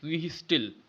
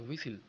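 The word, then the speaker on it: whistle: विहिसिल, विहिस्टिल। लेकिन विहिस्टिल तो पढ़ते नहीं है, क्या पढ़ते हैं? विसिल, विसिल, विसिल। मैं कई बार बोल दिया कि आपको ध्यान देंगे। तो इसमें जो एच साइलेंट हो जाएगा और टी साइलेंट हो जाएगा, ठीक है।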